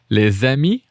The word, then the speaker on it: les amis: Les amis. And notice here I do les amis. Les amis, there's like a little link here that does like a Z sound.